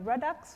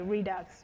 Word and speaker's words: Redux: react Jas react and I'm for non-americans pronounce it radix did I say redux okay redux okay but I am